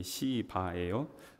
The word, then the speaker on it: 시바: 이거 저기 발음 세게 하시면 안 돼요. 그러면 이게 발음이 이게 또 들리기에 따라서 좀 억양이 이상하게 들릴 수 있는데 이게 시바예요.